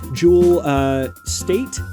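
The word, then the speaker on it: Jewel Staite: uh a fun thing jewel uh state i believe is how you call how you pronounce her name uh from firefly and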